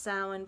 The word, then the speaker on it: Samhain: grateful heart you could look more into that samhain holiday it's actually prince it's pronounced sound but it's spelled s-a-m-h-a-i-n that's one of the